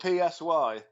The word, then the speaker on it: Si: But when she pronounces my actual name, and I've had this a couple of times at gigs, people pronounce it, like the Spanish for yes.